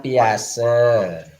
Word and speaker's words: Piaget: Teori Piaget kognitif. Ya. Bacanya Piase.